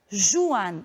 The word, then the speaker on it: Juan: Portanto, essa palavra nunca será pronunciada Juan, e sim Juan, o J da pronúncia gutural.